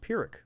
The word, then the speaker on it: Pyrrhic: Um It's pronounced Pyrrhic.